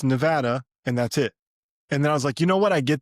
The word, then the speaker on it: Nevada: like, "However you thought you said this, it's Nevada and that's it."